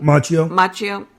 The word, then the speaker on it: Macchio: Okay, Ralph Macchio, or how do you say his last name? Macchio.